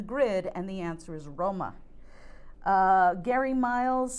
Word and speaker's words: Roma: it's going to be Roma which is the Italian pronunciation for Rome because we have Italian in the clue so Italian in the clue means Italian in the grid and the answer is Roma uh Gary miles says